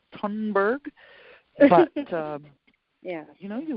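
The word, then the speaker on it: Thunberg: generation look at Greta I always pronounce it a Sonnenberg and my and they tell me maybe that that's not correct it's Homburg um yeah you know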